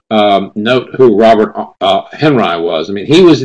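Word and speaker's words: Henri: funny sounding name h n r i not pronounced only like the French photographer Florence Florence HRI because his real name was Robert Henry Kad and he was from uh I think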